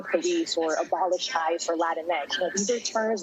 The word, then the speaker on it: Latinx: It's honestly, pronounce it however you want. That's the beauty of language. It's Latinx, though. You can say Latinx if it sounds better, but it's Latinx.